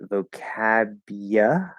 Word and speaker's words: vocabulary: Now you can reduce it and say vocabulary instead of you, like we saw earlier with whatever word we were talking about.